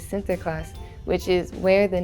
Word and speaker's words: Sinterklaas: The pronunciation of Saint Nicholas in Dutch is Sinterklaas, which is where the name Santa Claus came from.